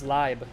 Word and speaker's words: Leib: Oh, Lieb is pronounced as Leib. Yeah. Why have I always thought it's Lieb for life? I know how to pronounce German. Like, if it's an E-I, it's always I. Like, Eisen would be E-I-S-E-N.